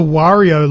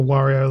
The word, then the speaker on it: Wario: Wario laughing. Mario Kart. Oh, there you go. I always thought it was Wario, not Wario. Oh, well, I say it like Mario.